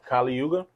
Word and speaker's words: Kali Yuga: And his name is How you say Kali Yuga?